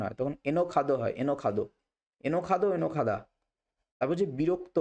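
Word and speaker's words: enojado: যদি স্পেনে বলা হয় তখন জকে ক্ষয়ের মত উচ্চারণ হয় তখন এনখাদ হয় এনখাদ এনখাদ এনখাদা বিরক্ত বা একঘে এটাকে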